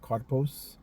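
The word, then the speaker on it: καρπός: When you get that word fruit in the blue letter, the Strong's G 2590 is pronounced karpos.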